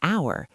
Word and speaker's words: hour: Number five, an hour. H is silent, vowel sound, an.